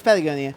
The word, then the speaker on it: Patagonia: put back together also where'd you get your Patagonia jacket it's very nice which I probably mispronounced no it's Patagonia pagonia awesome we if if we take it